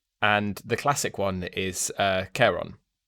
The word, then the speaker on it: Charon: And the classic one is Charon, which I pronounced earlier erroneously Sharon, because I forgot my Greek.